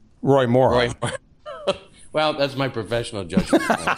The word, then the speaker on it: Roy Moore: I think I can't remember how I pronounced it, but it's Ray Moore, right? Roy Moore.